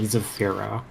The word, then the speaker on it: Zafiro: And now, would that be Zaphiro or Zafiro? I'm not sure. She pronounces her username Zafiro. Zafiro works for me.